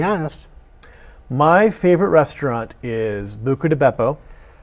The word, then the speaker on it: Buca di Beppo: My favorite restaurant is Buca di Beppo. It's pronounced Buca di Beppo. Buca di Beppo.